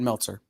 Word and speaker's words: Meltzer: Brad Mzer, one of the few writers in comics who has stayed in the White House multiple times. There's an L. Brad Meltzer.